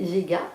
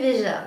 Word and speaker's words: Veja: J'ai enfin, alors il faut quand même le savoir que pendant des mois j'ai prononcé Vega, alors je disais regardez mes baskets Vega, et j'ai acheté des baskets Vega alors qu'en fait on disait Veja, mais bon alors c'est pas grave.